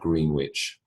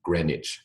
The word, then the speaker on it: Greenwich: meantime the Greenwich Meridian it is not green witch okay it is not a green Wicked Woman on a broomstick it is Grenich e grich all right